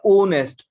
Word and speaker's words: honest: हमें उसका साउंड देखना है कि उसको कैसे प्रोनाउंस किया जाता है. तो sentence is that I मेट एन ओनेस्ट, इसको बोलते हैं ओनेस्ट.